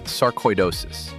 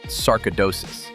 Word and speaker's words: sarcoidosis: The word is sarcoidosis, not sarcidosis. Think koi as in koiish, which sounds